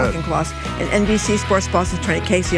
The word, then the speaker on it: Auchincloss: How do you say Auchincloss? Exactly like that. Auchincloss.